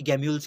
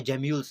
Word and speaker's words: Gemmule: जानेंगे इस वीडियो के अंदर कि गैम्यूल्स क्या होते हैं, या जेम्यूल्स। मैंने आपको पहले ही कहा, आप जेम्यूल या गैम्यूल कुछ भी इसको प्रोनाउंस कर सकते हैं।